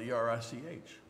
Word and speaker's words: Erich: My name is Eric, spelled E-R-I-C-H. And if you pronounce it in German, it's Erich.